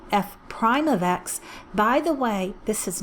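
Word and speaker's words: f′: These two are commonly called Leibniz notation, or f, it looks like an apostrophe but is pronounced prime, f prime of x.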